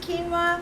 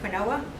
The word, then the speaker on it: quinoa: and some of you may not have it's pronounced quinoa but it's spelled q-u-i-n-o-a like quinoa but it's quinoa so today I'm going to